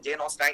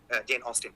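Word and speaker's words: Jane Austen: তো তখন সে বলতেছে প্রাইড এন্ড প্রেজুডিস লিখেছেন জেন অস্টাইন, মুখস্থ করতেছে এরকম। তো অ্যাকচুয়ালি উচ্চারণটা হচ্ছে প্রাইড এন্ড প্রেজুডিস, আর লেখকের নাম হচ্ছে জেন অস্টিন।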